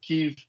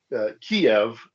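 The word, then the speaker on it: Kyiv: I have always referred to it as Kiev, as opposed to the Russified version, which is Kiev. If you can hear that distinction, basically is where do you put the Y, the end of the first syllable or the beginning of the second syllable.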